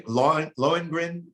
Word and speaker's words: Lohengrin: How do you, Lohengrin? Is that how you pronounce it? Yeah, that's the music heard in Of the Coming of John.